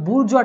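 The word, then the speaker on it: bourgeois: এইটার অ্যান্সার হচ্ছে এই যে বুর্জোয়া, এটার অ্যান্সার, এটার উচ্চারণটা বুর্জোয়া টাইপের হয়, ঠিক আছে।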